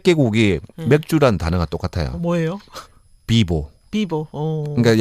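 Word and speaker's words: pivo: 비보. 비보. 그러니까 약간 B를 이제 사실은 좀 격음을 발음하고 예. V를 발음하거든요. 비보 이렇게.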